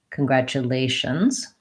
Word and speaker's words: congratulations: word congratulations changes chums so my stress comes off of the second syllable and moves to delay so congratulate congratulations and your other pair